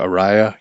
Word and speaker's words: Araya: It's spelled like area, the song, but she pronounces it Araya.